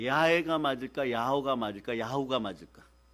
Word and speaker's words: 야훼: 야훼, 발음을 잘못해갖고 따라해보세요. 야호.